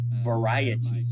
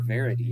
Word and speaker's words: variety: Then you've got rapid velocity, or generated rapidly, and then great variety, or verity if you're going to say it wrong like I do. Then you got structured data, freeform text, log files, graphics, audio, and video.